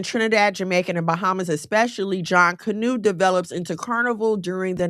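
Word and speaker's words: Junkanoo: It's pronounced John Canoe, a major African a major Afro-Caribbean masquerade tradition that predates modern carnival.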